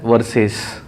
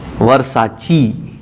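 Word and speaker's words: Versace: still laugh at मी I read it एस वर्सेस हु in heaven would know that V ई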